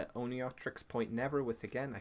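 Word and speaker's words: Oneohtrix: Oniotrix Point Never with, again, I can never pronounce the first word. It's Oneotrix, I think. Oneotrix, okay.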